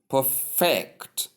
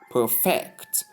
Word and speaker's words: perfect: alternate pronunciation that is the verb aspect is pronounced as perfect perfect. So it's all about stress in here that brings about the interchange or alternate pronunciation. So you can see there is a shift from there is a shift of stress from the first syllable to the second syllable.